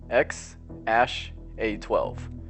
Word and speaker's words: X Æ A-12: his wife Grimes that's how it really is pronounced ex ash a 12 although quite bizarre of a name ex a